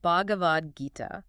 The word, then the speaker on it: Bhagavad Gita: Pronounced Bhagavad Gita.